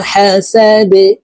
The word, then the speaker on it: حسد: شر حاسد إذا حسد এই ডাল কলকলার হরফ নিচের দিকে ধাবিত করে ধাক্কা দিয়ে উচ্চারণ করে এই ডালকে সাকিন করে ফেলবো إذا حسد ومن شر حاسد إذا